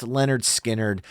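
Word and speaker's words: Lynyrd Skynyrd: it from their incredible 1973 debut studio album pronounced Leonard skinnard which is such an amazing listen between give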